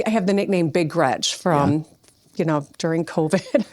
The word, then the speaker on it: Gretch: To be honest, my I'm named after my grandma Gretchen and grandma Gretchen always said, "Don't let people call you Gretch. It rhymes with wretch and that's not pretty, you know."